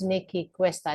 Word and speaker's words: Nicky Cuesta: So her name is Nicky Cuesta. Did I say it right? That is correct, Gabby.